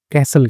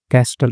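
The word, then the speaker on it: castle: Sand कैसल कहते हैं। ठीक है? कैस्टलर नहीं कहेंगे।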